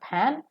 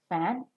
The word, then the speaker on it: fan: a labio dental sound the upper teeth and the lower lip should come closer to each other in the pronunciation of it make it look like